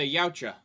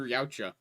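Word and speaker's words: Yautja: Uh the Yaoucha. Y A U TJ A. That is how it's spelled.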